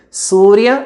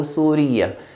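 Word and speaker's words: سوريا: And we mentioned that the country Syria can be pronounced in two ways. Surya or Suriya.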